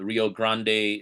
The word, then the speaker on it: Rio Grande: Like the Rio Grande in Texas, I think that's what it's called. Um or Rio Grand, depending on who you are and how you pronounce it.